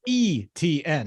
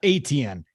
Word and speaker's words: Etienne: I did listen to Travis Etienne say his last name is ETN, not ATN.